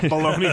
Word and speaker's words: bologna: way baloney flavor yeah baloney lroy balone lroy I would baloney lacroy is 100% going to be my stripper name yeah I like it baloney lacroy because every part of that has silent letters ladies welcome to the